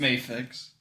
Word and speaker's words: Mafex: all right I got the mafex or mayx I never know how to pronounce it's mayx mayx the mayx Zack sniders